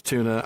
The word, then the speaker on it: Túna: Okay, yes, it's Túna. I want to keep calling it Túna, but this time it's a stress mark, not a umlaut.